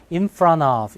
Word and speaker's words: in front of: 자, T가 약해지는데 NT에서 T 약해지면 우리 저번 강의에서 했나요? intersection 기억나시죠? 네, T가 발음이 안 나버려요. 그러니까 in front of 이렇게 가버립니다.